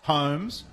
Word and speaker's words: Holmes: Holmes, like Sherlock, and an elementary mistake, dear Watson, because he's given away 50-metre penalty.